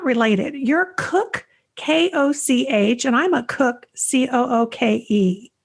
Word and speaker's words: Koch: And you know, it will help people, though, if people are curious how to pronounce K-O-C-H, is the same way as yours.